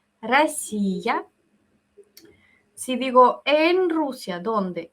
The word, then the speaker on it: Россия: Yo digo primero, ¿cómo se dice Rusia? En ruso suena como Россия, Россия.